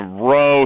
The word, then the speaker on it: rho: alphabet starts with r you do it in a boat row okay but it's not spelled out it's spelled rho okay um so lowercase r is the sample and a row here is the uh